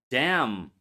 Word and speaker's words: damn: Condemn damn him. Solemn. These words we write an but we don't pronounce it.